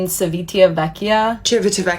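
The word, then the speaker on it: Civitavecchia: The Rome Cruise Terminal in Cevitia, that's how you say it, is literally the worst cruise port I've ever been to.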